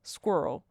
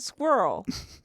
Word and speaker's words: squirrel: Janice says squirrel. You could do moose and squirrel. Why do Americans say squirrel?